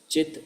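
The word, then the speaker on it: cit: In English we would write it like C-I-T, but pronounce it as Chit Shakti, the pleasure potency of the Supreme Lord.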